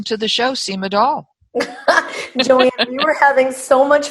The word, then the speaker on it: Dahl: of my name oh is it no doll rhymes with shaw but my first name